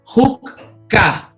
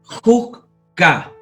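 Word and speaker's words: חֻקָּה: Y segundo, porque el dagesh fuerte está precedido de una vocal, siempre. Ejemplo, huk-ka. Huk-ka, estatuto, huk-ka, estatuto.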